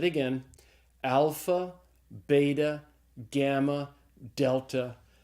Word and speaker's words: delta: sound it's called a delta and so Delta is pronounced like the D in the English word dog and the next letter